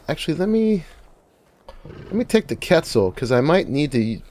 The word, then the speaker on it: Quetzal: annoyed when I say Quetzal, but that's how it's actually pronounced. The word comes from Spanish, from Quetzalcoatl, which is it's a Mesoamerican feathered serpent deity, and Spanish always has a hard Q.